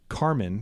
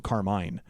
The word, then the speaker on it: Carmine: I always grew up knowing the word to be Carmen because it's spelled, even though it's spelled Carmine, because for the color red you would say Carmen, and for an Italian man you would call him Carmine.